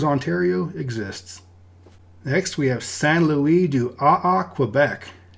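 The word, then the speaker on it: Saint-Louis-du-Ha! Ha!: Now in French, the H of the ha-ha would not really be pronounced, so it would be Saint Louis du AA, sort of.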